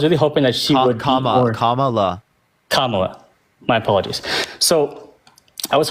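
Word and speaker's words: Kamala: um I was really hoping that that that kamla or camela sorry I know you're people saying it wrong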